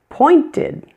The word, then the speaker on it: pointed: pointed. The ed is fully pronounced here. Ed. Pointed. Pointed. Sounds like ed also ending in d.